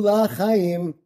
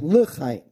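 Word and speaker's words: לחיים: Don't say Zachrenu La Chaim. Remember, it's for non-life. Bad move. Right? You want to say L'chaim.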